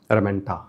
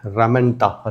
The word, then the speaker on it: ramenta: They are covered externally by ramenta. Then, what is it? Ramenta.